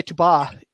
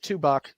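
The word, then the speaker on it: Tubac: but uh you know we don't say tuba which you know in seven realized that Spanish from the 17th century is different from Spanish today and there were weird like extra letters the same way French does um so like tubak everybody calls it two buck um t-u-b-a-c um but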